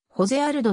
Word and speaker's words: ジョゼ・アルド: 世界フェザー級王者海外ではホゼアルドとも発音される総合格闘技に